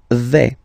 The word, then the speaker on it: vais: The first form is je vais. Okay, so remember, final S not pronounced here. Je vais. Okay, when you combine this AI, you get the sound A, really open, okay?